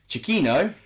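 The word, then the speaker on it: Chiquinho: ruddy whoever mark out um trinical products chikino chiquino that's how you say his name fabio silva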